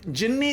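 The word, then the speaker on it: ਜਿਨੀ: जिसने जपया है न जिन्नी ते जिन द अंतर है जिन द पाव जिन्ना ने जपया है पर थे जि जिना ने नहीं है थे जिसने जप है तो इसका उच्चारण होएगा जिनी भाव जिस करण ली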